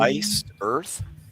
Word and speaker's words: Iced Earth: Like ice cubes and then the planet like the word ice with a D at the end.